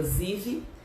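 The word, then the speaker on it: זיו: fala que foi nesse mês de Iá, ou na pronúncia, né, hebraica, Ziv.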